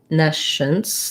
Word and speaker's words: nescience: And then we have the nescience, the schwa, nescience, and red tent vowel in the beginning, so ne. So it would look like this in IPA. First syllable stress, nescience.